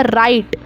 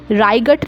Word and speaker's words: right: ये हो जाएगा राइट। यहाँ पर GH साइलेंट है, GH का मैंने ग नहीं बोला, यहाँ मैंने डायरेक्ट बोला राइट। इसको मैं कैसे पढ़ूंगी, राइट पढ़ूंगी, राइगट नहीं पढ़ूंगी।